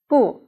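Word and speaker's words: 不: with the first tone boo it's a negative adverb before a verb and pronounced with the fourth tone originally let us talk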